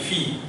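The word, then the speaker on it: fille: So only this much will be pronounced, and you will read as Phi.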